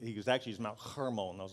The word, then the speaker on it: Hermon: mount ramon i know what i thought was mount hermon i was saying it wrong i had a theologian that i asked about this correct me said it's not my herman's man it's mount hormone i was like i